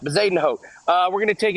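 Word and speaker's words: Højgaard: this guy's name uh I've been told it's bazen ho Vaden ho so we'll go with vazen ho uh we're going to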